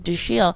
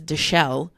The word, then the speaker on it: Dashiell: Thomas Howell, and one of his children's names is Dashiell. And a boy, his son's name is his son's name is Dashiell.